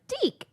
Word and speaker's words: DIC: The Deke logo came on at the end of the cartoons, and it was this little kid voice going, Deke. Anyway, maybe it was just so we didn't pronounce it Dick.